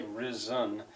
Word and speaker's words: risen: the son had risen you could say Ren Ren risen but you say resen when when with my